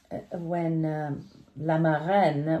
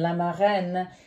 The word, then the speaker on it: La Marraine: It's the magical scene when La Marraine, which is how you say the fairy godmother in French, when La Marraine turns Cendrillon, Cinderella, you know, the magic of